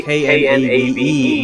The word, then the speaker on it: knave: We say K-N-A-V-E, knave, like nave, N-A-V-E, but still spell it in the most ridiculous possible way.